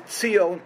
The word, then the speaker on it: Zion: Zion is Tzion, pronounced in Hebrew, and it's referred to in the books of the prophets, the city of David, which would basically be Jerusalem, Al-Quds.